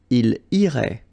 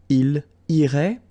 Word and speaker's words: il irait: And then, il, masculine form, irait, final T not pronounced. So what you can see is that these form, and this form are actually pronounced the same way. Okay? So, il irait, elle irait.